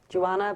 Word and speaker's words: Johanna: Joanna, but Joanna with a H.